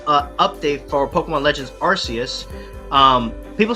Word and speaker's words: Arceus: know why i say rcs because the narrator in that game says arceus and we're just going to go with rc's okay so y'all do your